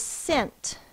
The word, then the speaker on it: scent: the next word is scent roses have a nice scent sound it out s the first sound is s this one does have the silent c in the S part